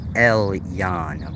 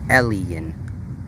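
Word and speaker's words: Elyon: ancient Hebrew word pronounced Ellen some people pronounce it Elan but that's incorrect it's Ellen like how when Jesus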